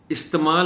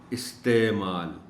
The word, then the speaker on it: استعمال: خاص بات وہی ہے، خاص نکتہ وہی ہے کہ عین کو کچھ ظاہر کر کے بولا جائے، نمایاں کر کے بولا جائے، پتہ چلے کہ عین تلفظ میں آ رہی ہے۔ استعمال نہیں کہنا، استعمال۔ نظم و ضبط، یہ